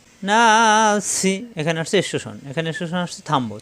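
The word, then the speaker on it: النَّاس: হয় বিন্নাস কুল আউজুবি রব্বিন নাস অর্থাৎ আইয়াতের সাথে মিলিয়ে পড়লে তখন নাসি থাকবে আর ওয়াকফ করলে নাস তিন আলিফ টান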